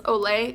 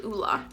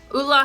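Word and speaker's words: Ole: bees this is the a lot of people pronounce that's Olay it's actually ulah ulah Hendrickson counterbalance oil control hydrator I have a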